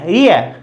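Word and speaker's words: real: देखिए ई ए, आर पर, यानी आर के लिए, रे के लिए आर आ जाएगा, री ए, रियल, लास्ट में ले, अर्थात ले, रियल।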